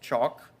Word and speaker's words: choc: handing my half of a choc which we pronounced chalk he eased back down